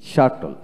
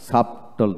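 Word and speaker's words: subtle: তারপর আসেন শাটল, এসইউ টিএলই, শাটল, সাবটল না শাটল, শাটল, এইভাবে উচ্চারিত হবে।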